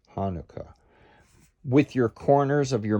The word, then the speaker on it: Hanukkah: um separated as before and hanukkah emphasize the first note i've got a tenuto marking over it and the second syllable should be the vowel as in book hanukkah book hanukkah with your corners of